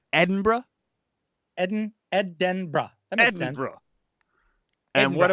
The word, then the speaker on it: Edinburgh: to pronounce them right it's ed in bra and bra and bra so three syllables Edinburgh Edinburgh and etc and